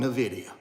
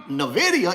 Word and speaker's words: Nvidia: called Nvidia well Richard you're pronouncing it wrong it's not Nvidia it's Nvidia I said well I